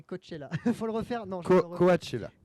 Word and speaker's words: Coachella: Celui-là, j'ai toujours un peu de peine à le prononcer. Rock in Rio et Coachella. Faut le refaire. Non, Coachella. Coachella, pardon.